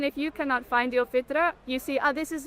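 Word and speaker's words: فطرة: Yeah, the fitra. The fita. Did I say it right? Yeah. Okay. That is in us. That is a good indicator. If you've lost your fita for some reason, Fitra. fitra, Yeah.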